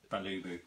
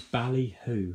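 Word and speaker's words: Balihoo: These were 3 quid with the bags in the box from Balubu. No, it's Ballyhoo. Ballyhoo. And I think that's spelled B-A-L-I-H-O-O. If you just Google two I's in it.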